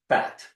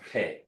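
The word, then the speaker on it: Phat: So it's not fat. Right. It's pronounced Pe.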